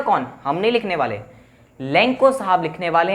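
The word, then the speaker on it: Lencho: First of ऑल, सबसे पहला character कौन सा है मैंने बताया, दैट इज लेंचो भी कहते हैं, कई लेंको भी कहते हैं। मैं प्रोनाउंस करूंगा लेंको, कई प्रोनाउंस करते हैं लेंचो।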